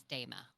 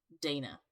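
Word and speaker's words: Daena: Just to clarify, her name was Dama. Dana. It's spelled Dana. D-A... Yeah, D-A-E-N-A.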